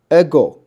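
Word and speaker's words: ἐγώ: 这个转写到英文就是 X。DOX 啊，doxology 啊，好，接下来这个是 ego 啊，ego 跟我一起读啊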